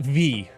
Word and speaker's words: vi: time to this community it's 100% pronounced V you put a V and an I together it's V right it's a